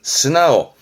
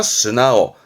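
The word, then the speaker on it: 素直: 발음은 스나오. 요 직자가 고치다 할 땐 나오 쓰거든요. 그래서 나오 발음이 나옵니다. 스나오, 스나오.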